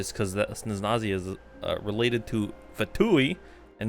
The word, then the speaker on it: Snezhnaya: Should be either the Snezhnayan Embassy or the Snezhnaya.